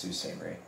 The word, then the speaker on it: Sault Ste. Marie: Marie, but it's pronounced Sault Ste. Marie.